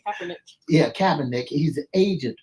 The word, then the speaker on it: Kaepernick: That Colin Kaepernick, how you pronounce his name? Kaepernick.